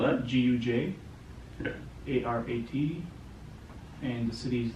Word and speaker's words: Gujarat: It's a state called Gujarat. How do you spell that? Gujarat, Yeah.